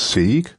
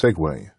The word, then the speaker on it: segue: Now, my European mind had me pronouncing this as se but I'm assured it's pronounced segue represented by such a symbol in the storyboard editor.